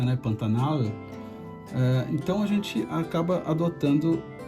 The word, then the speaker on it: Pantanal: tem uma história e regiões do Brasil ainda pronunciam o L da forma com a língua no céu da boca, né, Pantanal.